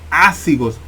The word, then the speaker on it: ácigos: Ojo con ese nombre, vena ácigos, posible pregunta de examen, y ácigos lleva acento en la A.